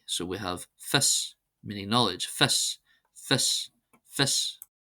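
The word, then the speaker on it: fios: Then we have IO is pronounced as an I. So we have fis, meaning knowledge, fis, fis, fis.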